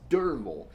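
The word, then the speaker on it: Derfel: totally weird and durable it's spelled d-e-r-f-e-l but it's pronounced as if it were d-e-r-v-e-l it's it's dermal and I'm like wait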